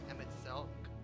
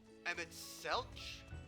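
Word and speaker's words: Emet-Selch: Also, the Emmett Selk, it's a hard K, not a H. Emmett Selch?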